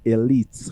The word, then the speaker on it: Elite: hit on that so the right pronunciation is Elite High School yes how about those that say it as aite well we would know